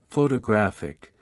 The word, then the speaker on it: photographic: For example, in the word photograph, the stress is on the first syllable, while in photographic, the stress shifts to the third syllable.